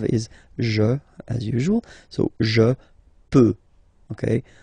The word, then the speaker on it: je peux: je, as usual, so je peux, okay? Final x not pronounced here, okay? So you get x, but you don't pronounce it, so basically you get the sound peut, je peux, okay?